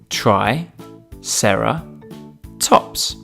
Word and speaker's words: triceratops: us today triceratops try sarah tops can you say it with me try sarah tops let's learn all about